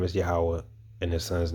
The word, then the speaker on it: Yahweh: that the Lord's true name and his true pronunciation is Yahweh and the Son's name is Yahweh Shai.